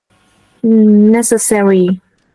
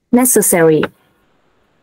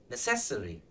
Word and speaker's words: necessary: Stress ở đâu? Trọng âm từ nào? Âm nào? Necessary. Thì là âm ấy. Âm đầu ha. Ok, đúng rồi, chính xác. Đấy, âm đầu là stress nhá, nhưng mà các bạn hay đọc là necessary. Nghe hay đấy, nhưng mà nó bị sai ha. Ok, âm đầu nhá. Necessary. Ok, necessary. Hoặc đọc kiểu người Anh thì necessary.